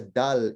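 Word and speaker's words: دال: let's differentiate between the name of the letter and the Okay. pronunciation. So the Okay. name of the letter has a dal in it. Okay. And so the name of the letter is, this is a dal, right? This is a dal. Okay. But when you pronounce it, you don't pronounce the L because that's the Ah.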